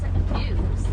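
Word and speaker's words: gnus: Wildebeest are also often referred to as gnues. It's spelled G-N-U because they make a newing noise.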